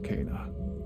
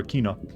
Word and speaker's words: Kena: house the corruption there is powerful be careful cana okay now i was calling her akina i will never remember how pronounced her name properly now cut off the